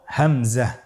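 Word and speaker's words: همزة: পরবর্তী হরফটির নাম হলো হামজা। পরবর্তী হরফটির নাম হামজা। হামজা হরফটি উচ্চারণের ক্ষেত্রে বারিক করে উচ্চারণ করতে হবে এবং এখানে টেনে পড়া যাবে না।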